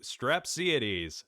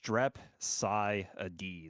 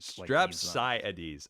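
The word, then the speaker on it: Strepsiades: pronounce your name right no no one no one pronounces it right I I always well yeah yeah it's just strep Sai ad like strep sa ades okay is that like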